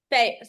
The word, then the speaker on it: Feher: Fair. Okay, here's what I go with. You know, like a carnival, right? A carnival or fair.